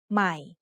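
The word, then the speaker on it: ใหม่: Notice that there is an initial consonant cluster formed by a silent letter hỏ ห ี บ, followed by ma. This means the word will start with the initial sound m of ma, but that letter will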